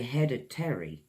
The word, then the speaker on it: hereditary: It's another adjective huh· reh· duh· tree hereditary Americans say How do they say that I say headed teri we say British English hr· eh· duh· teh· ree well This means it's